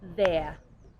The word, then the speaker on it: there: correctly said as this this last example is there with the correct pronunciation of the th is there great and this one